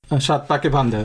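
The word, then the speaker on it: Saat Paake Bandha: For me, I think it's going to be Satpake Banda. How do you pronounce that? Shatpake Banda.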